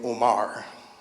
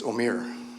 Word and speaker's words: Omer: him some time ago I pronounced his name Omar and of course he was a very patient he's a very gracious impatient guy and he said no my name is Amir I said thank you